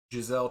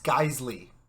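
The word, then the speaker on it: Geissele: Giselle trigger or Giselle whatever. It's Geisley. Jesus Christ.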